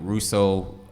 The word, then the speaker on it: Rousseau: So and that's, Rousseau, ROUSSEAU. Even though it's spelled that long, it's 2 syllables when you say the name.